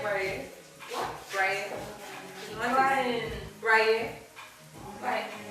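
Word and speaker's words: Braye: Oh, but I used to call him Bray. Okay, very, very, yeah, I Brian.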